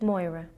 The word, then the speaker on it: Moira: uh all the time how do you pronounce it moira moira moira yes all right now i